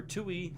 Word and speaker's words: Touille: When reading Touille's character description, it says Touille, it's pronounced Touille, is a self-proclaimed trash rodent.